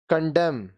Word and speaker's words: condemn: अब ये जो वर्ड्स हैं इसमें N साइलेंट होते हैं. Autumn, पतझड़. Autumn, पतझड़. Condemn, निंदा.